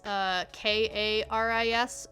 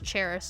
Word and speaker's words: Charis: It's Karis. Mine is spelled Charis. So when it's spelled the like more traditional, like English North American way, you know how to pronounce it. It's just Karis. Mine is the Greek spelling, so it is the funky one. So that's why, because it starts with CH, so everyone just assumes it's Charis or Charisse.